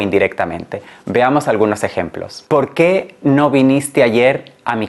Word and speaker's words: porque: también en la pronunciación aquí decimos porque es decir que la sílaba que va acentuada es la primera y no la segunda por qué por qué